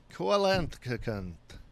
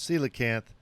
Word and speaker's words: coelacanth: the coelacanth which is not pronounced kolentkoken as i have always wanted to say it the koakanth that is coelacanth uh is an ancient fish that was thought